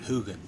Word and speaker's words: hogan: round home called palisad palisad Hogan and they pronounce it hugan anyway it's uh Cedar Logs stacked up like